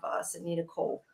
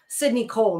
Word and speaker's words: Sydney Cole: we also still have sydne Cole uh that's up Sydney Cole not sydne Cole Sydney Cole Alexander uh